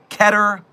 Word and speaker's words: Keter: It is called Keter Labs. Some of you might pronounce it Keater Labs. You're wrong, but it's fine.